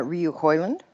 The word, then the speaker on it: Rioux-Hoiland: how do you say your last name uh Ryu holand Ryu hyand well that's that's a interesting name